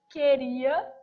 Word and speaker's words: queria: Quando eu pego uma palavra tipo queria, primeiro que esse U some, queria, não é pronunciado, é dígrafo.